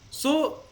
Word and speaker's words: sew: SEW is so and FEW is few.